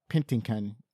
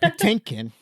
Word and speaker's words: Patinkin: their plan to cast pintin oh shoot I messed that name up Patinkin that's how you say it Patinkin because he felt the